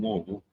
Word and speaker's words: Louisville: So, if you live in Louisville, Louisville? it's like put a bunch of rocks in your mouth Louisville. and try to say Louis.